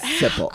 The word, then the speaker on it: Zippel: Zippel. All right, so accent on the first syllable there.